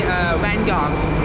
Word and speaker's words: Van Gogh: How do you say Van Gogh?